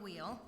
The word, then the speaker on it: Weil: I will acknowledge that I was saying the name of Simone Weil incorrectly. She is not German, she's French, but I just looked it up this morning and it's pronounced Weil, so I will say it differently this time than I said it the first time I was here with you.